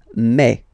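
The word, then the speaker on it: mai: so really open a okay and then you pronounce it may may ok so don't pronounce you don't try to pronounce it no it's May May so it's not my it's May okay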